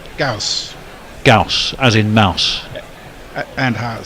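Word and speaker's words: Gous: and left by uh gaus to rhyme with mouse or house or Lous or grous just going back to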